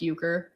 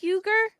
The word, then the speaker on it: Euchre: and I'd be like how do you spell it like chank euger no like Euchre so it's uh what